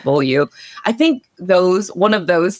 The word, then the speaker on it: Beaulieu: But well, it's not below. I know it's not below. Oh, Lauren Beaulieu. Beaulieu.